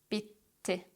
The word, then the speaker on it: bitti: In Turkish, we don't tap our double T's. Instead, we put a pause in between and we pronounce both T's very clearly. Hissetti, hissetti, bitti, bitti, gitti, gitti, kaybetti, kaybetti, yetti, yetti.